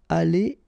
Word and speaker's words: allés: If you've got the plural, like it's the case here, ils seront allés et s, like that. So you'll put this s. You don't pronounce it, but still you need to put it.